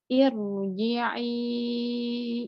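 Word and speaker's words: ارْجِعِي: Tapi kalau sebelumnya hamzah wasol seperti yang terlihat di contoh, bacanya ir, agak condong ke atas gitu karena tebal, karena tafhim ro-nya. Irji'i ila rabbiki.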